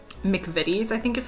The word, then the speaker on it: McVitie's: This is brand name, McVitie's, I think is how you say it.